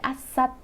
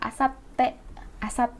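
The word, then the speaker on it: あさって: Lalu ada asat, bukan asate, ini salah ya, saya salah tadi nyebutnya. Yang betul adalah asate, jadi t-nya itu yang double ya, asate.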